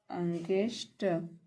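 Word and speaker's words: against: मीस विरुद्ध होता है यहां पर पले ए के प्रमुख उच्चारण होते हैं अ आ ए ए और औ तो कब ए का उच्चारण अ होता है इ का उच्चारण अ होने पर तो जब ए जी ए आई एन एस टी अंगस्ट अंगेस्ट मीस विरुद्ध होता है तो यहां पर ए का जो अर्थ है उच्चारण होगा वह होगा अ जैसे ए है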